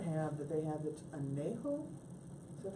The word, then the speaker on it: añejo: And there is a third one that I don't have that they have that's añejo. Is that how you pronounce it? Yeah. Añejo? Anejo, yeah.